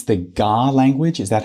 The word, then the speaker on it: Ga: I mean, even if you think about because it it's the GA language. Is that how you pronounce it?